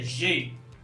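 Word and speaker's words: j'ai: je के साथ ए आई, इसकी प्रोनाउंसिएशन होती है जे। ए आई बनेगा, इसकी प्रोनाउंसिएशन होगी जे।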